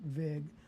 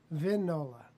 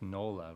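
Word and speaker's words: Vignola: the frank vignolia guitar not vig vindle g is silent vinola that's what i get right that's that's what i'm i've been to you always say gnolia nolia that's not like canola that's no like cannoli it's nola right nola okay no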